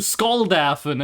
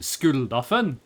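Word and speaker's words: Skuldafen: Go go go to Skull Dafen and get me this thing." And I'm going to be like, "Actually, it's pronounced Skulafen."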